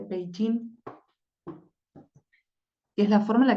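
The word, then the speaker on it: Beijing: se escribe así y mucha gente dice beijin pero en realidad se dice peí es la forma en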